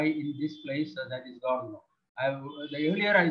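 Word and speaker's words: Gare du Nord: The pronunciation may be something like Gardeno. They pronounce it as Gardeno.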